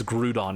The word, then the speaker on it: Groudon: My way of pronouncing Groudon has been forever altered. It's Groudon now.